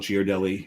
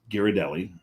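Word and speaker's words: Ghirardelli: girelli you're wrong it's giradelli there's a sign on the wall that tells you how to pronounce it but also it's Italian you put an H after a g it's a hard G you put an H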